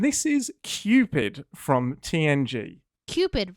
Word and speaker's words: Qpid: Qpid rhymes with stupid.